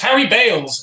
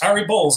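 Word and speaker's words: Harry Baals: he'd be saying it's harry balls actually and there's even radio presenters who would get a call from him mid broadcast saying this is your mayor son it's pronounced balls whenever they tried to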